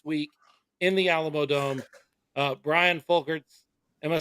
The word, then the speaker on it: Brian Folkerts: Brian Folkerts.